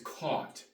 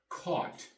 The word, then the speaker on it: caught: the past tense is caught c u ght caught the GH is silent when you buy something